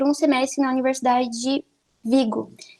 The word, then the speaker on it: Vigo: semestre na universidade de vigo na verdade se pronuncia brigo mas eu não consigo